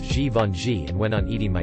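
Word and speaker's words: Givenchy: talking about a French fashion designer but kept mispronouncing his name say it goovin Chi ever The Helpful little idiot I said it's pronounced ji Von ji without a word he put his Fork down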